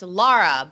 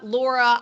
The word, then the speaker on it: Lara: name all the time it's Lara but I've been called Lara Laura I Whatever by the way